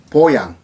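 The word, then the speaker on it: voyant: 프랑스인들이 시인을 보양, V-O-Y-A-N-T, T는 발음이 안 되니까 보양이라고 합니다.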